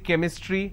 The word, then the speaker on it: chemistry: for example change but when i have the word chemistry ch becomes ker sound so i say chemistry i say chrome so